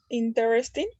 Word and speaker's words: interesting: Notice that the unstressed vowels are not pronounced.